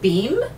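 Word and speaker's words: Behm: week this is by martina beam is how you actually pronounce her last name I listened to Diane's show she interviewed Martina and it her last name is spelt being aa pronounced yep pronounced beam so it's the tubular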